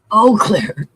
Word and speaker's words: Eau Claire: How do you say that? It's called Eau Claire. Eau Claire. Yep. It sounds la-di-da. Yeah, not like the donut.